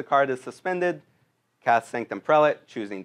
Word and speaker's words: prelate: Sanctum prelate, which I learned is pronounced prelate, not prelate, which feels odd now saying that.